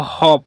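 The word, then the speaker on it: half: They are simply choosing to सी the glass as हॉप full. L यहां silent है। इसको हॉप पढ़ते हैं।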